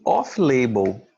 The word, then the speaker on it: off-label: no hospital o uso off-label já ouviram falar e não não lembro só celular top label a pronúncia dele é o uso off label off label significa medicamentos